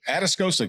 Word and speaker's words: Atascosa: Most people don't know where that is, but Atascosa County. I'm proud to say correct. I can pronounce it now correctly.